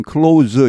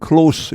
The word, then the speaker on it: close: 나스닥 시장은 굉장히 활발했습니다 여기 clos 동사나 명사일 때는 클로즈 이렇게 해서 뒤에 S 바람이 유성으로 이렇게 됩니다 형용할 때는 close 이렇게 무성으로 발음됩니다 the s&p 500 row